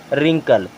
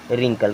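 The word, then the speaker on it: wrinkle: आर आ रहा है अब आर आई एन के एल ई इसे क्या पढ़ेंगे रिंकल क्या पढ़ेंगे रिंकल क्योंकि यहां पर डब्लू साइलेंट है बच्चों आज के लिए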